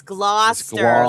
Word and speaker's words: Gloucester: It's Gloucester like claw like a lobster claw and Gloucester.